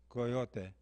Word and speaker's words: coyote: I had gone from a three syllable mascot coyote to a four syllable mascot javelina I don't know I